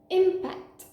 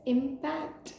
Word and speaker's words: impact: next word is this first pronunciation impact meaning Collision the second pronunciation for this word is impact meaning influence for example the impact with